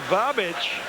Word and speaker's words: Babic: Here Comes Milos babic that's easy for you to say yes even though it looks like he's missing the H in the back of his jersey that's the way it's